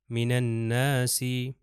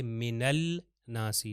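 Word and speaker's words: من الناس: नून से मिल जाएगा तो हो जाएगा मिन नासी मिन नासी आप देख सकते हैं मैं नहीं कह रहा कि मिनल नासी नहीं लाम को प्रोनाउंस नहीं करना मगर लिखा जरूर जाएगा इसीलिए इसका फर्क यही है कि लिखा जाएगा मगर प्रोनाउंस नहीं होगा तो हम चलते हैं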